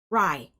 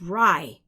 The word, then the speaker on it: GRAI: Rye... It's Rye... It's actually Rye... G-R-A-I The "G" is silent.